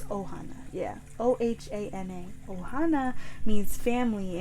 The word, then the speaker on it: Ohana: It's not Hohana. It's Ohana.